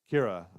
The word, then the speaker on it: Kira: Then we got, is it Kira or Kyra? Kira. So I've been saying it right.